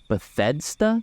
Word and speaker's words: Bethesda: Starfield Yeah by Betha how you say their name I've been saying how do you say it Betha Bethesda yeah it's Bethesda Bethesda yeah no one hit